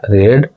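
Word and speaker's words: read: Verb का third form, verb रीड है तो रीड का थर्ड फॉर्म होता है रीड होता है, स्पेलिंग सेम होता है, प्रोनाउंसिएशन अलग होता है, रीड।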